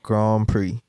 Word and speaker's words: Grand Prix: I'm going to be pronouncing it the Grand Prix.